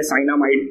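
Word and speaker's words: cyanamide: The mixture of calcium सियानामाइड। सियाना हम इसलिए बोलते हैं क्योंकि हमको स्पेलिंग याद रखने में आसानी होता है, ऐसे तो है साइनामाइड, ठीक है।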